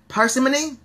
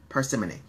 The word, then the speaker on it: parsimony: all for himself parsimony i've heard it pronounced both ways by the way i've heard parsimony and parsimony i've been researching parsimony is what's coming up most often but i have heard persimmony here's a sentence because